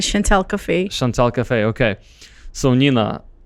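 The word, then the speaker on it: Chant'el Cafe: her baby but um the chantel cafe i don't even know if i'm pronouncing this right yes that's right chantal cafe chantal cafe okay so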